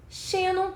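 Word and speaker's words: xênon: alternativa né letra A Xenon shenon tem como sílaba tônica a penúltima sílaba que é o x que é a sílaba pronunciada mais fortemente portanto por ter a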